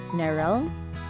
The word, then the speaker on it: Neryl: For anyone wondering, my name is pronounced as Neryl. It's like Meryl, but with an N.